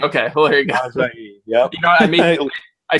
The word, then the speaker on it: Ajayi: And, forgive me, the kid from Boise State, Jay, how do you pronounce that? What is it? Ajayi. Ajayi. Okay. Well, there you go. Ajayi.